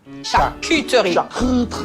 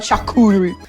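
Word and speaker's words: charcuterie: Shakuter. No, no. Shakuter. Not shakureri. Shakuteri.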